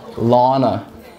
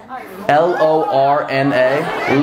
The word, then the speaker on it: Lorna: Lana. Lana. Lana. Lana. Did I not just fucking say that? Spell it. L-O-R-N-A.